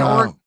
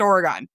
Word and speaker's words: Oregon: Like watching Oregon College, that court screws me up so bad.